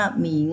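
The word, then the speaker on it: 明: ดวง จันทร์ นะ คะ 2 ตัว นี้ อ่าน ว่า หมิง แปล ว่า สว่าง สว่าง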